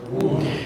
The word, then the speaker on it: would: Would. Yeah, this is pronounced as would. So the L is silent.